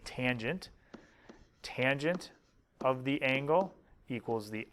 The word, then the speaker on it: tangent: the third one is called tangent we abbreviated t a n but we say tangent of the angle equals